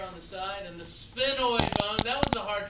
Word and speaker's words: sphenoid: the side and the sphenoid bone that one's a hard to pronounce sphenoid it's like saying sphere like a sphere a round object is a sphere a spinoid